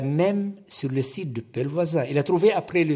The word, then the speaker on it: Pellevoisin: J'ai eu du mal avec la prononciation de Pelvoisin et je pensais que c'était Pelfocine, car je ne parle pas le français et je dois faire la bonne prononciation.